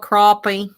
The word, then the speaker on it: crappie: becca how do you say it it's called crappie yeah it's getting deep in here man it's